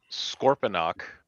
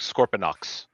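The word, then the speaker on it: Scorponok: Sometimes it sounds like Scorpionox. Yep. With an X at the end.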